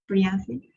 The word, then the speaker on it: Priyanthi: Shall we start with you, Priyanthi? I hope I'm pronouncing your name right. No, the pronunciation was perfect, but thank you.